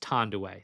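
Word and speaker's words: Thandiwe: original what she had originally and it is pronounced Tandway.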